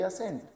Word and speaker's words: assent: जैसे ASSENT असेंट और ASCENT असेंट। अब स्पेलिंग हल्की सी वैरी कर रही है लेकिन प्रोनाउंसिएशन दोनों का बिल्कुल सेम है, असेंट असेंट।